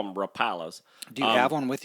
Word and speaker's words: Rapala: time since since the 20s okay um Rapala Rapala is how it's pronounced has been making baits since 1936 now